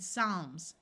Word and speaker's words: Psalms: root calmly bomb and Psalms notice the p is silent two words follow this